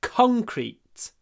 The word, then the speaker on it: concrete: are made of concrete the stress is on the first syllable concrete con now you need to open your mouth Co concrete and it's interesting because here we have a n in the middle of the word like that conk conk just like when we say sink or thank or uh I don't